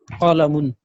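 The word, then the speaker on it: قَلَمٌ: Whenever you find double dhamma sign, you will pronounce it as un. So this word will be pronounced qalamun.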